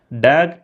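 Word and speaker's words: דג: பாஷையில் எப்படி இருக்குது அப்படின்னா, டேக் கடால் அப்படின்னு சொல்லி இருக்கிறது. இந்த கடால் அப்படின்னா பெரிய, மிகப்பெரிய அப்படின்னு அர்த்தம். இந்த டேக் அப்படின்னு வருது பார்த்தீங்களா, அது வந்து எப்படி உச்சரிப்பாங்கன்னா டாக் அப்படின்னு சொல்லி உச்சரிப்பாங்க.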